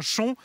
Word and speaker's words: Chaon: nous arrivons donc à chon à l'extrême est du loircher à 13 km de la mode bveron et une petite précision phonétique s'impose on écrit Chaon mais on prononce bien chon et on va aller